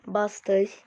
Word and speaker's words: Buster: Booster var. Buster diye okunuyor bu.